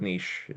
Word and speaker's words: niche: And as they are typically wrong about a lot of things, the American pronunciation of niche is also there's no T in in the word niche. That would we'll use the British Canadian.